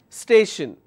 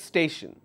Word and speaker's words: station: the second last syllable then I have the word which is tion station so two syllables stay Shin so I will focus on the second last syllable and I will pronounce it as station confusion station lotion alright